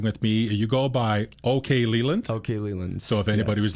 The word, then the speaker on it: Okleland: I think it's Oakland. But unfortunately, that's not how it's pronounced. It's pronounced Okleland.